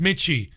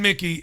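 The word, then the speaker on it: Michie: is it's spelt m-i-c-h-i-e i would have thought it was pronounced michy but it's pronounced mickey susan mickey i just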